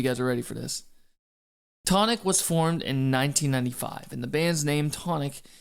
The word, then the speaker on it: Chthonic: Tonic was formed in 1995, and the band's name Tonic is a Greek term referring to the earth and the underworld. In the West, the term is usually pronounced Chthonic.